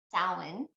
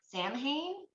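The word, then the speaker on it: Samhain: of pronouncing Halloween is Stalin and it's spelled not how it sounds whatsoever it's not like Sam Hayne oh that's weird I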